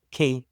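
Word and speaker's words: Quay: How do you pronounce that? K. Key.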